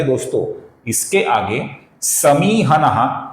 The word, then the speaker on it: समीहनः: यहां पर मी दीर्घ है दोस्तों, हमें इसका लंबाई से ही उच्चारण करना पड़ेगा। समीहनः ये गलत उच्चारण है, समीहनः ये सही उच्चारण है।